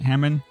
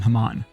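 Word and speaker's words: Hamon: got something for us i pronounce it hammond come on moan i'm gonna keep i'm gonna keep calling haman if i were to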